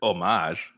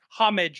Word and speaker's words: homage: be right man i' I've never heard it pronounced that way though I I have heard omage I guess but I don't know I I don't know well okay we can both agree that homage is wrong yes yes because I have heard somebody say that before pronounce the h yeah yeah yeah I